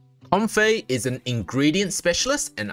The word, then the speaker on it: Comfey: video on YouTube and this is how they pronounce comy or com apparently com it's com in today's video we